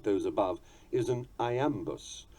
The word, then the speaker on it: iamb: those above is an iambus, more usually called an iamb, spelled I-A-M-B. I remember this by thinking of Popeye, whose trademark rusty croak went, "I am what I am.